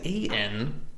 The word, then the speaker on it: ennui: And how do you spell it? That is ENWEE.